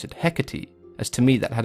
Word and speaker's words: Hecate: we take a look at the way it's pronounced in greek it's ergati which could easily be translated to both hecate and herkate so i guess it comes down to personal